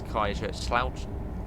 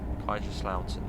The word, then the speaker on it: Kaiserslautern: I do know how to pronounce Kaiserslautern now. Apparently it's Kaiserslautern. Kaiserslautern, that's how you say it.